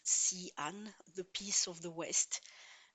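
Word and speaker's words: Xi'an: re Imperial written X I A N but pronounced CN the peace of the west and this this city still exists.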